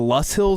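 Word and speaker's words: Loess Hills: I got out to Waubonsie State Park right on the border of Nebraska and Iowa, and the I believe it's the Luss Hills, I believe is how it's pronounced.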